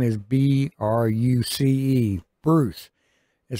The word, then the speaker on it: Bruce: all right my uh name is spelled with a c b r u c e Bruce not I don't even sound